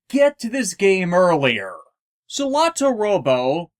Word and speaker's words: Solatorobo: to this game earlier salato robo properly pronounced as sora toe robo meaning skies and robots